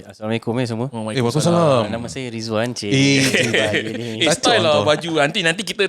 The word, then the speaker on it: Ridzwan: Ridzwan lah apa macam nak pronounce ni? Ridzwan La.fe.